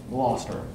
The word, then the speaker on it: Gloucester: the city of gloucester gloucester which of course like a lot of british place names is not spelled anywhere near the way you would actually say it right gloucester and musicologists worked to